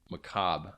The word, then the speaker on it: macabre: I didn't know macabre, how to pronounce that, but I'm glad I nailed that.